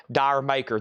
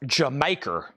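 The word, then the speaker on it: D'yer Mak'er: I've heard it's actually called pronounced Jamaica. That Led Zeppelin song is evidently supposed to be called Jamaica, but I've always said Dire Maker.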